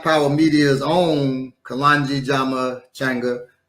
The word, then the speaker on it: Changa: Media's own Kalonji Jama Changa. I say Changa, but some people say Changa, right? As an African traditionalist, I always say for the A.